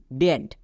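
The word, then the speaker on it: debt: যেমন দেখো, ডেট, এখানেও বি এর পরে টি আছে, তার মানে বি এর উচ্চারণ হবে না, DET, ডেট।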